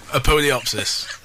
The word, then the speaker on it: Apodyopsis: Right, so let's hear Hell's Sweet End by, come on, tell me how it's pronounced. Apodyopsis.